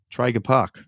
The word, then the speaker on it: Traeger Park: Traeger Park.